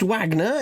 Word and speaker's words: Wagner: uh and uh Mr Vagner am I Am I Wrong uh it's pronounced Wagner it's anglicized but yes um yes perhaps